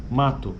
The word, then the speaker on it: mato: o né ou o mato Mas na nossa pronúncia na maioria do do português brasileiro é na verdade sai um u no final né então é mato esse U é bem fraquinho e aqui ele está